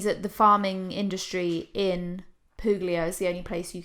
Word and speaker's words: Puglia: in Puglia. Puglia.